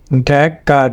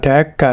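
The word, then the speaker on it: Dhaka: এখানে স্টেজ পড়বে প্রথম সিলেবলে, শেষে সোয়া সাউন্ড হবে, এ হবে ঢ্যাকা ঢ্যাকা।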